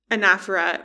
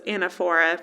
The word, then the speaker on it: anaphora: So anafera or as I always thought it was anaphora which it's not. That's just not how you pronounce it but that's what it looks like.